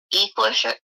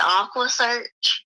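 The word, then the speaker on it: EquuSearch: And then, and then he was like, after that, it was like, I'm so tired of, he mispronounced Equisearch, and he said Aqua Search.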